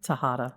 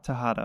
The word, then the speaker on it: Tejada: Ann and mm-hmm how do you pronounce your last name Tejada Tejada okay I was correct on the pronunciation I